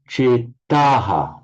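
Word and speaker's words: चेताः: You will notice at the end of this line, chetaha, with a long a and visarga, chetaha.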